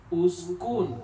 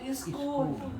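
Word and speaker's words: اسكن: Kalau kita belum paham kaidah ini ya, Pak Ketua bisa aja bacanya iskun seerikeun kucing ya seri. Allahu Akbar ya. Ya. Uskun ya. Uskun.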